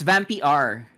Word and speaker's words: Vampyr: VAMPYR is how the game's spelled. Vampire? It's Vampire. Get it right, goddamn.